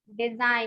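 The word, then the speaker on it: design: डिजाइन, यहाँ पर भी जी जो है साइलेंट है।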